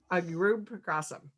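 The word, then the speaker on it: Arudpragasam: Arud Pragasam.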